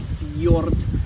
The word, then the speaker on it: fjord: and in old norse when you see the j in the english alphabet um it's actually pronounced with a y or yeah okay um such a yolk so a url or a fjord and that kind of